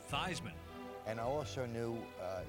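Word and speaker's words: Theismann: All of that changed when a Notre Dame quarterback altered the pronunciation of his name from Joe Theman to Joe Thyman.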